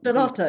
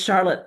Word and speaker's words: Charlotte: you pronounce her name Charlotta, right? That's the pronun Charlotta is the German pronunciation. L is often the short, but it's Charlotte.